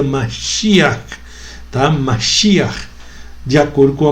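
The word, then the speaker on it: משיח: Que em língua hebraica se pronuncia Mashiach, tá?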